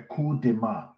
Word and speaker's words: coup de main: Now, they continue to state, this was done by a coup de main, that's how you pronounce it in French, a coup de main of U.S.